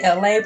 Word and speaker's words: Elay: So hey, this is me, LA, pronounced like LA, like the city. I'm not from there, but I'm breezy. Thankful for nachos. 1, 2, 3. Hey, what's up? It's me, Elay, pronounced like LA, like the city.